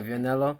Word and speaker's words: Vianello: We have some heavyweight action with Jared Anderson and Guido of Vianello. I believe that's how you pronounce his last. Yeah, Vianello. Yeah.